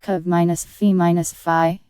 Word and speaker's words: covfefe: This one, published by the Marshall Report, held Covfefe, pronounced Cov-Fe-Fi, is an antediluvian term for in the end we win.